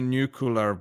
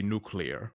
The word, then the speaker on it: nuclear: it as I yes you say new cooler when it's supposed to be nuclear but see I thought